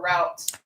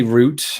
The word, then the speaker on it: route: Lawrence, route or route? I say route to this day, I think anyway.